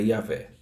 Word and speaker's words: Yahvé: O YHWH, que entre outras pronúncias é Yahvé.